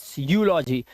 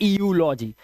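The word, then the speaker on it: eulogy: एंड ईयू यहां पर भी है यूलॉजी, ना कि ईयूलॉजी, इट्स यूलॉजी, ठीक है, यूलॉजी।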